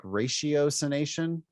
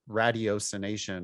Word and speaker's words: ratiocination: On the page, it looks like ratiocination. But it's rational. It's radio. It's like the hard T.